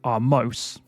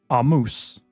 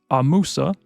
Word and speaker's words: Ahmose: But it's actually an Egyptian name that has at least 3 different pronunciations. So the first one is Ahmose. Then it is Ahmose, and finally Ahmose.